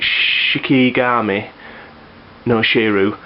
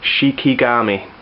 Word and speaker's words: Shikigami no Shiro: I've been calling it Shikigami No Shiro, and yeah, he's actually informed me it's Shikigami, the way it's pronounced.